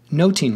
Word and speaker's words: nothing: the following lines Oh Phileas says I think noting my lord Hamlet replies and that's a fair